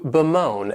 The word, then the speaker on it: bemoan: The next verb is to bemoan, and this verb has 2 syllables and the stress is on that second syllable, moan, bemoan.